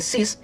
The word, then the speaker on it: Seiss: Seiss, se escribe 6, ¿verdad? Pero debe ser Cis, J.A. Seiss.